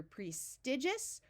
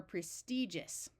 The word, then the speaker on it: prestigious: to point out that some people pronounce this word with a short I While others pronounce it with a long e so you can say either prestigious or prestigious here we want to